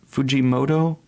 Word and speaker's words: Fujimoto: is it oh let me pull is it Fujimoto yeah it's got his signature just insane style